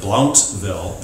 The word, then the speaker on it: Blountville: Road Evangelical Methodist Church, Bluntville, Tennessee. I learned the hard way that I pronounce it Blountville, and I was quickly corrected.